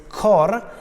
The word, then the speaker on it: cor: a bit strange is cor is a poetic version of the Italian word which means heart it has only one syllable so it fits better into the metric trema trembles me is